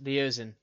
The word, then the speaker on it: Leozin: I will bide my I'm thinking I want to try to approach is it Leozin? Is that how you pronounce his name? Yes, Leozin. Yes.